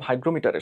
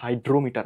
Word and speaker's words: হাইগ্রোমিটার: বইয়ের মধ্যে শুষ্ক আদ্র হাইগ্রোমিটারের সাহায্যে দেখ এটা কিন্তু হাইড্রোমিটার না হাইগ্রোমিটার ঠিক আছে অনেকে আমার ভুল উচ্চারণ করো হাইগ্রোমিটারের সাহায্যে আবহ পূর্বাভাসের জন্য নিজের কোনটা সঠিক?